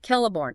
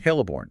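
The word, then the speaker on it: Celeborn: The article brings up Kelliborn as a very strong possibility. Okay. Kelliborn. And again, that C is a hard K sound. So Kelliborn, exactly.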